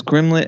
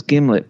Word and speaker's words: gimlet: She says grimlet, and then she corrects herself and says gimlet, but kept it in there.